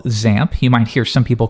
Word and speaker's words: XAMPP: at something we call XAMPP. You might hear some people call it XAMPP. Either one really works. There's no official pronunciation, but most people do XAMPP.